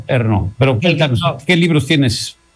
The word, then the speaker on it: Ernaux: se escribe Annie Ernaux, que se pronuncia como, según los franceses, como debe ser, Ernaux.